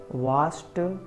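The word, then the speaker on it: watched: देखिए helped, looked, वाच्ड और यह है वाच्ड।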